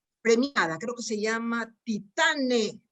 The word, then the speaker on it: Titane: Y leo los términos con que se celebra la película de la directora premiada, creo que se llama Titane, debe tener la pronunciación francesa, Titán, ¿no?